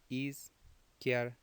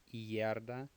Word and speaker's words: izquierda: Try to make it just three syllables. So it's izquierda, izquierda. So the IE is kind of a ye sound. It's not izquierda, izquierda.